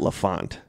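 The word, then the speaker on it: L'Enfant: think I'm solved mysteries pronounce that Lafont like a French name it's a French word for the child oh so I'm just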